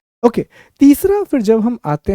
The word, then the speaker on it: ochre: इसकी स्पेलिंग मैं आपको बता दूं, OCHRE, ओका, OCHRE। तो आपको गेरुआ रंग के बर्तन मिलना शुरू होते हैं, OCHRE। ठीक है, ओका इसका प्रोनाउंसिएशन होता है।